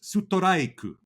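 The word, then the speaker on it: ストライク: So catcher is pronounced kyacha, or pitcher is picha, or strike is sutoraiku.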